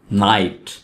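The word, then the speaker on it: knight: नाइट. नाइट में के को नहीं पढ़ेंगे, के यहाँ पे साइलेंट है, तो वर्ड है नाइट.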